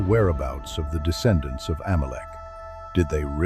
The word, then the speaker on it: Amalek: In Hebrew, it is pronounced as Amalecch.